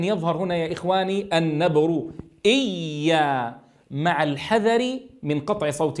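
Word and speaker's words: إيّا: فلا يصح أن أقول كما أسمعه يعني في نطق البعض إيا إيا. ماذا فعل هنا؟ جعل من الياء حرفا شديدا فقطع عندها الصوت إيا، والأصل أن الياء رخوة ولكنها هنا مشددة.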